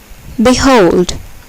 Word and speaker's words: behold: Here, the second syllable is accented. Undoubtedly. Behold.